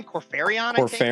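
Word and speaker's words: Kor Phaeron: Corfaron, I think. Is that right? Corfaron. Yeah, Corferron.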